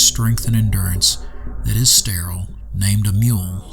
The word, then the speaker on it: Mul: Dark Sun Rules book The Word Mole is pronounced with the long u sound meaning the proper pronunciation is mule this is not as